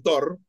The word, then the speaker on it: Torre: camino y dicen, no, Haroldo Torre, pero no, era londinense, nacido en Londres, se llamaba Harold Torr. Torr, se escribía Torre, pero era Torr, se pronuncia así, que fue el primer delegado de Argentino de Quilmes en AFA.